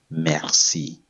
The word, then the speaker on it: merci: you say that in French thank you is Mercy Mercy Mercy Mercy Mery good this said when